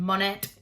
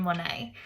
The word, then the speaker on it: Monet: And like I said, that's why his name is spelled a little bit strange with that silent T on the end. We don't call him Monet, we call him Monet. And that's because his name is French.